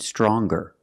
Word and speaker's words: stronger: strong to younger and stronger? Or the youngest, the strongest. When we change these adjectives with er or with est, we're going to pronounce the g sound, the hard g.